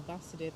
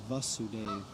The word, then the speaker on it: Vasudeva: along with balladeer prior to the disappearance of vasadeva and arjuna bastian's nephew undertook the charge and arjuna undertook the charge of the funeral service after vasadev's disappearance it's actually pronounced vasudeva because it's not the vasudeva because vasudeva is